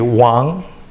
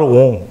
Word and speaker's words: Wang: So for example, my last name, W-N-G, Wang, not Wong, it's a Wang.